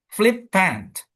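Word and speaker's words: flippant: Nah ini juga flip pant flip pant. Flip pant flip p. Nah, flip pen itu flip pen. Nah, flipnya yang kencang ya.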